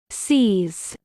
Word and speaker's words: seize: attack as Delaney hesitated American pronunciation sees sees repeat the word after